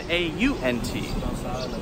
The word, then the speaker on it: aunt: Okay, so let's answer Roxana's question, which is, what is the difference in pronunciation between A-N-T and A-U-N-T? And the answer is, there is no difference. Now, some people will say my aunt, okay?